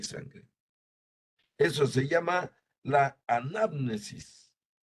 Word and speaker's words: anamnesis: de la anamnesis Perdón son palabras griegas un poco anamnesis es la pronunciación correcta la anamnesis cuando ocurre